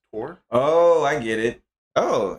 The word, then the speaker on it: Thor: It's sort of funny how they say the name of Thor in Old Norse. It is Thor. Thor. Oh, is it pronounced Tor? In old Thor in Norse. Thor in Norse is pronounced Tor.